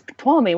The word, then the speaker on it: Tuolumne: I'm like, oh, it's Tuolumne. Why can't? Oh, duh, because this isn't normal. Mm-hmm. Yeah, there was a video I did for somebody, and it had it where Tuolumne popped up.